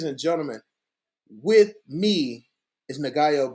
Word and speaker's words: Ngaio: video, I'm sitting here with the legend himself, Ngaio Bealum. Am I saying? Ooh, no, you're not pronouncing it right. Oh fuck! I hate when people do it. All right, please Ngaio Bealum.